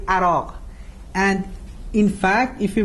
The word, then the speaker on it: عراق: But in Farsi we say "عراق" and in fact if we want to write the phonetic for this word, we can just put "اراق". So there is no difference in pronunciation between "عراق" and "اراق".